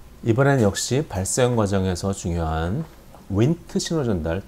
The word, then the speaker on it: Wnt: 이번엔 역시 발생 과정에서 중요한 윈트 신호 전달, WNT라고 쓰고, 운트도 아닌 문트도 아닌 윈트라고 읽어요. 윈트.